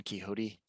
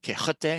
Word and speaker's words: Quixote: you guys familiar with the story of Don Quixote? That's the bad American English pronunciation of it. Don Quixote. You want to do the I've heard of it before. Spanish I from Spain? Quixote.